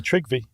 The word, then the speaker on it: Trygve: He had a grandson, and I have no idea how to pronounce this. Trygve. I'm not big on my Norwegian. It's really Trygve.